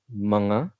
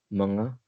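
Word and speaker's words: mga: how we usually make words plural can you pronounce this word with me manga perfect manga that's how we usually convert words into plural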